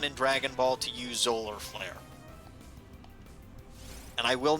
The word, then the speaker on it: Solar Flare: get in trouble uh it's spelled with an s so it actually is spelled solar flare not zoller flare but it is a